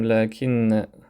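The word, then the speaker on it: لكن: Et ce qu'il faut savoir, si je dis ici par exemple lakin, j'améliore ma phrase, lakin sadiqahu kasoul. Regardez, lakin. Donc il s'écrit comme ça, mais on prononce avec un elif ici. Lakin.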